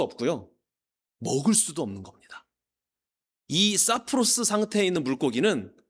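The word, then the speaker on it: σαπρός: 자, 그러나 여기서 못된이라고 번역된 헬라어 이게 사프로스라고 발음하는 단어인데 어 뉘앙스가 조금 안 좋지 않나요?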